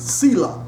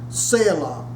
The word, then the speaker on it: Selah: Now also in this song, you will see the word Selah, S-E-L-A-H.